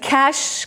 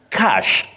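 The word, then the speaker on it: cache: arms weapons which isong that word is pronounced cash just like money okay cash so such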